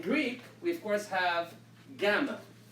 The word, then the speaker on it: gamma: we of course have gamma which always makes the sound go the hard G so that's why there's